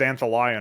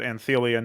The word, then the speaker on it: anthelion: of um anthelion i thought it was antholon or something initially but anthelion is uh it's not even